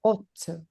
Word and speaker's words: ought: Let's analyze pronunciation. Ot great.